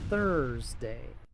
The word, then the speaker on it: Thursday: Muchos pronuncian esta palabra Thursday, pero aquí la th se pronuncia con la lengua entre los dientes. La u es muda antes de la r. Thursday.